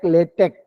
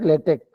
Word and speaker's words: LaTeX: So it is pronounced like LaTeX. It is pronounced just like LaTeX. Okay, lay and tech, and it is supported